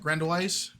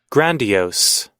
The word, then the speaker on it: grandiose: Grandoise Grandoise. How do you pronounce that?